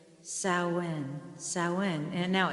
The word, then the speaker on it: Samhain: uh i'm going to say this right saoin sowen and now it's spelled s-a-m-h-a-i-n but it's pronounced samhain and i'm